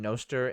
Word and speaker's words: Nostr: I'm pronouncing it Nostr in the idea that it's like Nostradamus.